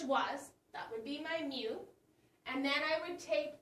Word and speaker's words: mu: Remember, this is pronounced mu, and this is sigma.